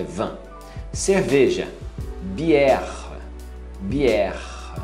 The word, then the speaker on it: bière: Cerveja, bière, bière. Você não pronuncia bière, igual muita gente fala que fala francês, é só você forçar na última.